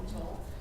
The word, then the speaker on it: atoll: actually refers to an atoll, that's how you pronounce it, atoll, coral atoll, but they don't really talk specifically about the